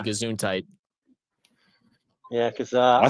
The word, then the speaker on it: Gesundheit: They used to say Gesundheit in America when you sneeze. It's German for bless you. Wait, how do you pronounce it? Gesundheit.